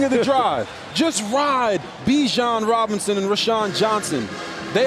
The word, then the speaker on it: Bijan: up another first down Bijan rhymes with Dijon just like the mustard just like the spice under 10 and a half to go First and Ten again for Texas inside the 30.